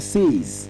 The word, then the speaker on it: says: and is not says it is says just like you want to s e z says that's the proper pronunciation